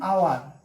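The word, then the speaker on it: hour: এন আওয়ার, এখানে দেখেন এইচটা হলো কনসোনেন্ট, কিন্তু এখানে এইচের উচ্চারণ কিন্তু হচ্ছে না, এখানে উচ্চারণ ভাওয়েলের মতো হচ্ছে, যার ফলে এখানে এন বসেছে। অ্যান অনারেবল, এইচ থাকা সত্ত্বেও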